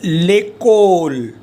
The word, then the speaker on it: l'école: And this one is l'école.